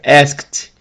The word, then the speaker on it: asked: Nesse caso, o ask está no passado, ele é um verbo regular e a pronúncia do ED é de T, né? Ask, como terminar com K, que é não vozeado, fica asked.